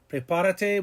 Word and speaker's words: prepárate: Prepárate, we went back 3 and put an accent mark, and we have it pronounced correctly.